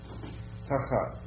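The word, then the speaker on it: תחת: Tachat. Yeah, emphasis on the first syllable, but yeah, tachat.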